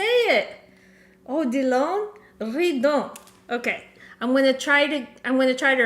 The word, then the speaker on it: Odilon Redon: Yes, Odilon Redon. Ah, Dominique, you're amazing. Okay. Oh, I'm French. Ah, that's why. Dominique. Odilon. Say it again for me. Odilon Redon.